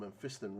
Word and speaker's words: Mephiston: So I need some Mephiston red, not men, Mephiston apparently, as Tom pointed out.